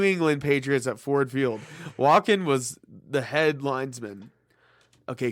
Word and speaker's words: Walken: No, not Joaquin. It's Walken.